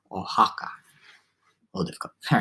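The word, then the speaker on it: Oaxaca: going to clarify pronunciation the city o-a-x-a-c-a ohaka ohaka all difficult all right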